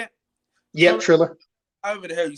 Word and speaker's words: Triller: Yep, Triller.